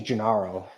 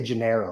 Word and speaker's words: Jaro: because I my name my name is jaro and people say Jano all the time so I'm very hesitant